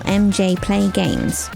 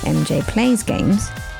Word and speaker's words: MJPlayGames: Today's guest is the remarkable MJPlayGames, which I immediately mispronounce as MJPlaysGames.